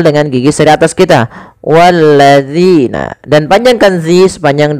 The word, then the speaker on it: الذين: sini pada lafal zina, hati-hati di dalam melafalkan huruf zal. Jangan sampai kita membacanya menggantinya dengan huruf zai. Misalkan wallazina, ini salah. Kenapa? Karena dia merubah huruf zal menjadi huruf zai.